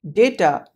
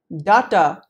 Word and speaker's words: data: the word date here the d a part of the word data is to be pronounced as day and not da so quit calling it data and say hello to